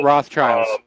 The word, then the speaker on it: Rothschild: By the way, it's pronounced Rothschilds.